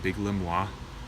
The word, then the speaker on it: Biglemoi: mood indigo and the pronunciation is confusing is pronounced big limb wah it's vel vig LEM all I it's one